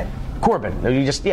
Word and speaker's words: Corben: Because you put the accent on the second syllable. Corben. Most people put it on. No, it's fine. I like it. So how do you say it? Corbin.